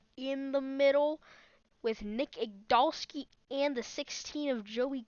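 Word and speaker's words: Igdalsky: Nick Igdalski, that's how you pronounce his name, Igdalski.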